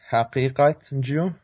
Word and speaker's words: Haqiqatjou: Yeah, so the last name is pronounced Haqiqatjou, so it's a mouthful for sure, but thanks for having me on the show.